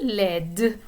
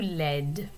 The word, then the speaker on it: laide: So laid, the D is not pronounced, it is silent. When you add the E to it, then you do pronounce the D, and the vowel sound in the middle changes a little bit. It goes from laid to laide.